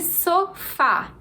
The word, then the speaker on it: sofá: ser acentuadas número 13 sofá é a sílaba tônica e por ser a última sílaba da palavra essa é uma palavra oxítona a gente tem o